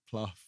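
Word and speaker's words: Plough: It's mentioned Jane Pluff, which is spelled plow, but it's Pluff.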